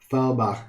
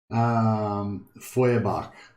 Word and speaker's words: Feuerbach: Farbach would literally translate to Fire Creek. It's a German name, like a lot of the names of the Empire. Thanks, Darkman Meister. Feuerbach, that's how you say it.